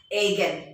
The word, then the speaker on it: eigen: okay e i g e n students we pronounce it as again a cap is the operator again operator psi